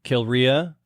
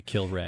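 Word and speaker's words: Kilrea: is like part of this endeavor you know kill Ray we said we're saying kill Ray okay kill Ria it's actually should be kill Ray and here's the thing Andrew just to respond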